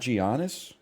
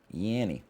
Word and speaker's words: Giannis: was I was laughing it's not Giannis how do you say it Janus Janus Giannis really I didn't know it was Giannis like gyro what do you mean like gyro it's gyro yanny okay slash marker Nitro Nitro